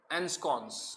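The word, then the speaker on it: ensconce: इसको दो उसमें डिवाइड कर दीजिए। आई एन, यानी ये एन, स कॉन्स, एंस्कॉन्स।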